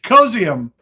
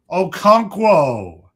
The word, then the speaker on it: Okonkwo: Chig Okonkwo. Okonkwo Okonkwo Okonkwo Travis Hunter, Jaguars.